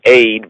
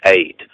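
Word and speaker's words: עֵד: It's pronounced as aid, but it's written like ed, or id, really ed, but the pronunciation, they say, is aid, right?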